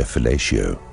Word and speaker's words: fellatio: cathedrals and institutions where fellatio rhymes with Horatio Ellen Thomas told the